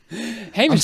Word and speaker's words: Hamish: your name is ham I don't know how to pronounce it Hamish heish heish you got it right the second time okay heish from fellowship